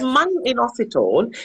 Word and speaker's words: myo-inositol: And a question is, myo-inositol, is that how you say it? That's right. It's myo-inositol, which is, most of the studies have been on myo-inositol.